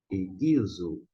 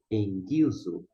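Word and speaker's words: ἐγγίζω: contudo na pronúncia iraniana quando nós temos duas Gamas está aqui em destaque um verde e o outro vermelho corresponde ao nosso g a gente não lê e Guizo e sim esse primeiro Gama e o caso que está na cor verde ele fica sendo o som do n o som nasal esta maneira pronunciamos em Guizo ok O que significa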